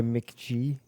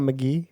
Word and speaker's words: McG: obviously great directed by Mick G love Mick G is that how it's pronounced mhm it's not McGee no it's MC G it's mck g i hate that he